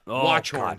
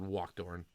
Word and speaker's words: Watchorn: Watchorn. Sorry, I said Walkthorn. Watchorn.